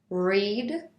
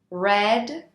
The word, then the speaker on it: read: of the verb read although it is spelled the same in all three conjugations the pronunciation is different read present simple red past simple red past participle for example I cut